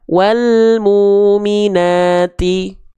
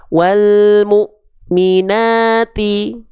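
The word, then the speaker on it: والمؤمنات: perhatikan di huruf mimnya kita enggak baca gini kan walmuminati Wal muminati muya enggak gitu tapi karena muya di sini ketemu sama Hamzah sukun maka dibacanya Wal mukminu Maaf wal mukminati wal mukminati gitu Kenapa mukminati karena dia ada Hamzah sukun setelahnya yang pun yang punya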